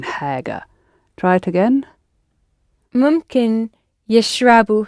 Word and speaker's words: حاجة: And it's the ha that's breathing on the glasses in haga.